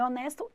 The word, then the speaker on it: honest: Dizer um homem honesto, an honest man. Estão vendo? Então, se o H pronunciar honest, você coloca outra no lugar de a house, que é a.